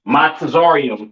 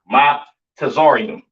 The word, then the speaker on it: Mizraim: Uh, Mizraim, all right, aka your Egyptians, all right, pronounce Matazarium in the Hebrew, Matazarium in the Hebrew, all right.